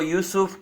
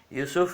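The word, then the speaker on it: יוסף: लेकर डाल रखे हैं यूसुफ नहीं बोलना चाहिए योसेफ बोलना चाहिए और याकूब से योसेफ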